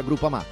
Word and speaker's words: Groupama: Ah no, si pronuncia Groupama.